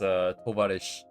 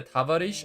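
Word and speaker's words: товарищ: The Russian equivalent for comrade is tovarish, I think. It's either tavarish or tovarish. Because their O, you see this O here, by the way? This O is sometimes pronounced like an A.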